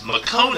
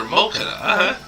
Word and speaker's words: Mokona: Makona is how they pronounce it in the Magic Knight Rayearth anime, but in Tsubasa Reservoir Calendar they called her Mokona.